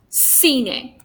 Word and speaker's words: cine: So we have the same sound. Zapato, here. Zapato. Salas, como yo, como mi nombre. Cine. So even though we have 3 different letters, we have the same sound in Latin America.